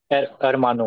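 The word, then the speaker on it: hermano: इस अरमानो को सर अरमान होगा या अरमानो होगा? अरमानो होगा। मैंने बताया था आचय हमेशा साइलेंट होगा।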